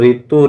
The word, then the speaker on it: ऋ: केवल ऋतु, ऋषि, ऋण आदि कुछ शब्दों के लेखन में इसका प्रयोग मिलता है। इसका उच्चारण र प्लस इ होता है।